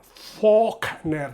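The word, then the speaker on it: Faulkner: Todo esto es Fogner, que ya sabéis que se pronuncia fner. La L no se pronuncia para nada. La O se alarga.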